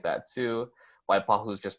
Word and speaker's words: Waipahu: down to Waipahu there's places like that too Waipahu is just pronounced Waipahu are there any other specifics or